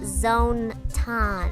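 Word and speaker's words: Zone-tan: it's pronounced zone tan zoetan runs the youtube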